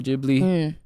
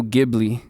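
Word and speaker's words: Ghibli: be saying it wrong too studio gibl studio jibli studio jibli or Studio gibli ji had it right the whole time bro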